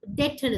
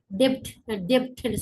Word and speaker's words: debt: இங்கிலீஷ்ல வந்து இந்த வேர்ட் டெட்னு சொல்றது. பட் நம்ம ஸ்ரீலங்காலையோ நம்ம திடீர்னு வாசிக்கும் போது பி இருக்கிறதால எல்லாரும் டெப்ட்னு சொல்றது.